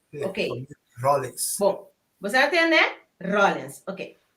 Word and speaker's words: Rollins: É fam, como está pronuncia corretamente? Rollins. Rollins. Ok. Rollins.